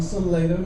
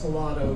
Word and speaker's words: Salado: I know other places it's actually pronounced Salado, but in Salado it's Salado.